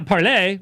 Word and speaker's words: parler: has pointed out that apparently it is a French term to speak. Well, yeah, parler means to speak. Parler. So, I mean, it's supposed to be how it would be pronounced, is what he's saying.